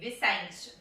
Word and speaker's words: Vicente: We say Vicente.